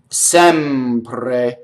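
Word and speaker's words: sempre: Here we have our first open E, Sɛmpre. Okay, so a couple things happen in this word. Number one, the R rolls because it touches a P, right? The first E is open E, The final E is closed E, right?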